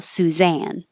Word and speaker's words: Suzanne: sounds like sue susan if you see it written with two n's at the end like this then the stress is on the second syllable suzanne this one susan suit the